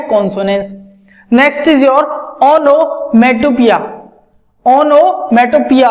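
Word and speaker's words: onomatopoeia: Next is your ओनोमेटोपिया, ओनोमेटोपिया। अब ये है POEI है, लेकिन पढ़ेंगे इसको पिया, प्रोनाउंसिएशन इज पिया।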